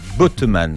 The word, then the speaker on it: Bottemanne: le docteur Lucie Joly et le docteur Bontemann. Alors, je ne sais pas si je prononce bien votre nom, mais vous allez voir. Bontemann, voilà.